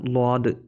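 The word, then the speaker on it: ضاد: ഇതോ ഇതിൻ്റെ രണ്ടിൻ്റെ ഉച്ചാരണം ഏകദേശം ഒരുപോലെയാണ്. ഇത് സ്വാദാണ് കേട്ടോ. സ്വാദും ല്വാദ്. ല്വാദാണ്. സ്വാദിൻ്റെ കൂടെ വരുന്ന അതേപോലെ തന്നെയാണ്. പുള്ളിയില്ലെങ്കിൽ സ്വാദും, ഉണ്ടെങ്കിൽ ല്വാദും.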